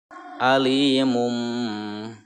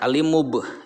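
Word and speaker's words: عَلِيمٌ بِمَا: Alimum. Cara membacanya membalik serta ada dengungnya, ya. Berarti ada dengungnya. Alimum, alimum. Nah, itu ke mim ya. Jangan alimub, jangan ya. Tetapi ke mim.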